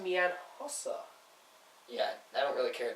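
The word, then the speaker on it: Hossa: Kanan hos on the right wing uh is pronounced mean HOSA yeah I don't really care Don Cherry and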